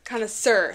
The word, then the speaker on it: connoisseur: connoisseur an art connoisseur connoisseur coniss sir like sir yeah like that is also an math